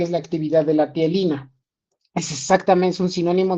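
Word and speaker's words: ptialina: Bueno, tialina, pero no se pronuncia la P.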